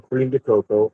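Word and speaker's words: crème de cacao: And the second ingredient is some creme to cacao or cream to cocoa as some might pronounce.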